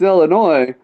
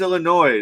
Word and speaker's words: Illinois: I go, "Yeah, it's Illinois." So I turned back to the don't bartender. do that. You don't do that. Yeah, you do. You don't tell him it's Illinois because that just confuses the fuck out of them, dude.